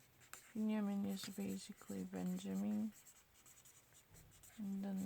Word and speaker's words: Binyamin: You can see Binyamin. Binyamin is basically Benjamin. And then Netanyahu. I know that much. Don't lie.